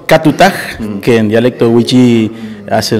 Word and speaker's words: Katutaj: Esteban Lafuente, sos demarcación del club Tajutac, ¿lo pronuncié bien? ¿Qué tal, Eduardo? En realidad es Catutaj, que en dialecto wichí hace referencia al pez del Dorado, que significa el tigre del Bermejo.